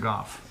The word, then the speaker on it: golf: Probably my favorite 20 minutes of golf. Of all the golf I've ever watched, it was my all-time favorite. I appreciate that you not only watch the show, but you pronounce golf without the L.